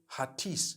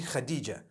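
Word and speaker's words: Hatice: h-a-t-i-c-e i would say hatis for that no it's actually khadijah in turkish that's the way they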